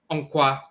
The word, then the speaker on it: nkwa: So the same word, onkwa, in Akan, and that's how it's pronounced in the Akan language.